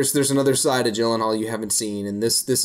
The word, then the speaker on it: Gyllenhaal: I'll go into this with caution so that I don't oversell myself on the Gyllenhaal. That's kind of how you say his name.